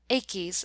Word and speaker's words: aches: has old achis throb AIS is two syllables but modern printers who had lost the right pronunciation have aches as one syllable and then to complete the meter have foed in aches will throb thus what the poet